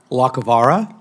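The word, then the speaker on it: Lacovara: Lacavara?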